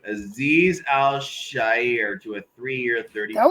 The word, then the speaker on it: Azeez Al-Shaair: Oh God, this name Azeez Al-Shaair to a 3-year, $30.